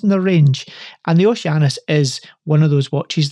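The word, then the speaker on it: Oceanus: new Oshi yes so the oceanis not as Ricky would like to pronounce it the OC anus but this is a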